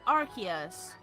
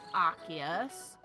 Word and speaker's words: Arceus: like the debate of Arceus Arceus is Arc as in a Arc not us as in an ass like a donkey or a bomb I'm